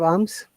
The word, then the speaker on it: alms: The poor beggar could get no alms. Do you know the meaning of alms? ALMS. ALMS, L is silent, alms.